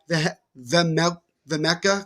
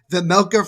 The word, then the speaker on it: Vejmelka: was kicked aside by Vemeka. Excuse me, I'm going to say that name wrong. So many runs. Vemelka for Melka. That's what it is.